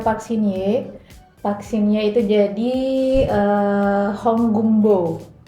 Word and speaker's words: Hong Geum Bo: Vaksinya itu jadi eh honggumbo. Hongkembo ya bacanya ya.